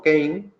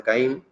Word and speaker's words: CAINE: le echéis un vistazo realmente hay que pronunciarlo como kane pero bueno en el argot aquí hablamos de caín y tiene agrupada todas